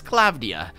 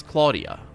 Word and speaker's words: Klavdia: yourself my name is klavdia that's a pretty name actually it's Claudia Claudia Claudia is an okay name I know some Claudia's not pronounced like that mind you it's certainly not with a k' the klavdia was a